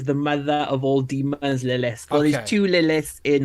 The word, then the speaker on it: Lilith: She is Lilith is how you pronounce the name, right? Lilith.